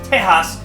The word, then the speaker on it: Tejas: is most likely because Texas which is pronounced Tejas in Spanish this sounds like the